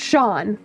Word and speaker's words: Sean: Sean is an Irish name. That's why it's pronounced Shawn. That's different. Yeah, it's not seen because it's it's an Irish name.